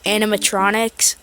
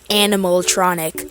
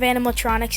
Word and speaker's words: animatronics: Just a random fun fact, as a kid I used to think that animatronics was like pronounced animaltronic because Five Nights at Freddy's and they're animals because yeah.